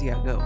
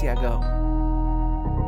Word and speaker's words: YAGOO: I was I always think yagu because of the double o and that's like that makes the ooh sound but everyone always says yago so I assume it's yago because Japanese is a